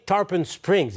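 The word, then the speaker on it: Tarpon Springs: de tempampabé bonsoir Charles euh quiabite c'est bien tarpen Springs hein vous habitez est-ce que je prononce correctement ok parfait c'est bien ça oui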